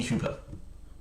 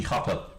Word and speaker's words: Hooper: It was Toby Hooper or Toby Hopper depending on how you want to pronounce his name.